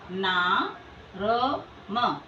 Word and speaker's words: नर्म: इसका उच्चारण कैसे करेंगे ना र म लेकिन इसके साथ स्वर नहीं होता है तो हम बोलेंगे नर्म ये बाद वाले व्यंजन के पूर्व इसका उच्चारण किया जाएगा नर्म अब यहां देखिए ना